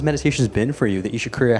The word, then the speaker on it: Isha Kriya: I knew, I just wanted to see what she would say, but yeah, Pronounce it. try it. Isha Kriya?